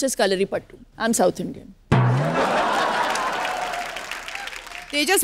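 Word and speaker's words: Kalaripayattu: कलरी पट्टू, पट्टू है, कलरी पट्टू है, कलरी पट्टू है, लेकिन it's pronounced as कलरी pattu.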